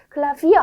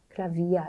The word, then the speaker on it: Klavier: 그래서 클라비어 아니고 클라비아 이렇게 읽어졌었습니다.